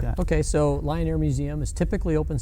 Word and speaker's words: Lyon Air Museum: Lion Air Museum, spelled with a Y, Lyon Air Museum.